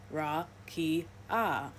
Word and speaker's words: rakia: In the Hebrew Old Testament, the word used for firmament is rakia, pronounced ra-ki-ah, meaning extended or solid surface or flat expanse, considered to be a hemisphere above the earth.